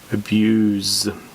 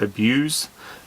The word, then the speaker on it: abuse: Abuse. The noun is pronounced abuse.